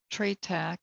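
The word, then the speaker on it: trataka: a video on candle meditation which is called treytac that's spelled t r a t a k the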